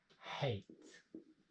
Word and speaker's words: hate: short ah hat now this e is what we call the silent e it's only there not to be pronounced but to effect that vowel when we have vowel